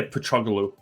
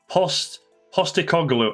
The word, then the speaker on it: Postecoglou: I always want to say Petroglou. Yeah, like the Fulham player. Yeah, I don't know why. Postecoglou. I'm not far off, am I? Angie Postecoglou, or just Angie.